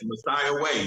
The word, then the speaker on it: Messiah Way: How you pronounce his name? Messiah Way.